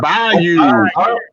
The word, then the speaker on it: bayou: That is pronounced Bayou. Bayou.